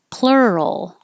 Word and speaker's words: plural: Plural. This is two syllables and it has the RUL combination like world and girl. So plur, your tongue comes back for the R.